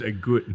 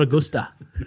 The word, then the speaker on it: Agut: His surname's Batista Agut. His surname's Agut. Oh, so it's not Augusta. No.